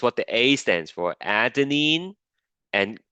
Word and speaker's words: adenine: Now, the adenine, which is what the A stands for, adenine and guanine, that's how you pronounce these things.